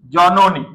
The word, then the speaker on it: জননী: কি হবে কাগজ হসন্ত এবার আস জননী এখানে দুইটা রুল কাটছে অর্ধবর্ণ এই আগের বর্ণ অকার আছে পরের বর্ণ আবার দীর্ঘকার আছে মনে রাখ এটা মধ্য পরের বর্ণ এখানে একটা আছে পরে দীর্ঘকার আছে উচ্চারণ কি হয়ে যাবে হয়ে যাবে তাহলে কি হবে জনি জননী জননী বুঝাইতে